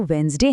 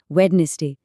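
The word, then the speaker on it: Wednesday: अब दिलचस्प बात यह है कि हम इसे बोलते तो वेडनेसडे हैं जिसमें डी और नेस का साउंड लगभग गायब ही हो जाता है।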